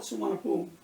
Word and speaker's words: Suvarnabhumi: So a little bit different pronunciation, but if you're looking for it written down, what you're going to see is Suvarnabhumi. In English, is in English how they spell it.